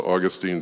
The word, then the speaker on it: Augustine: life called agustinus and augustinus is closer to Austine than it is to Augustine the Brits for some reason love to emphasize the second syllable on any Greek word really think about